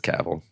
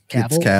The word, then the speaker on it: Cavill: I actually looked it up. It is Cavill. Cavill.